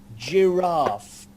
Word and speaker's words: giraffe: good very good now here we're going to change from a hard consonant sound to a soft consonant sound for the same letter this time Nikolai please could you say this word giraffe drear up juror giraffe so rather than a hard good girl we've got giraffe giraffe so it's a soft consonant giraffe general schirra jr.